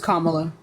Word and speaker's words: Kamala: that Kamala is trying to legalize it'sa it's Kamala you don't have to be racist it's Kamala